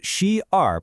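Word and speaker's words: 十二: It becomes she r pronounced she r literally 10 2.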